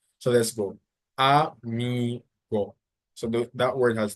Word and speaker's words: amigo: So first you have mi, go. So it ends with a O. So the general rule is that the stress should be on the second part. So that's why you say amigo.